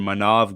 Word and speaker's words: Maanav: And today, guys, we have a very special guest, Houston sportscaster Maanav. Hopefully, I pronounced your name correctly, right? Yeah, it's Okay, Maanav.